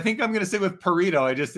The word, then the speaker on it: Pareto: we're saying it wrong it's not burrito it's Pareto thanks for clarifying but I think I'm gonna sit with perrito I just it's uh it rhymes with burrito